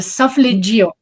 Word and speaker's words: solfeggio: The solfeggio.